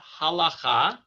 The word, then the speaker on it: halacha: white board next time but the word is halacha okay um here i'll just write it on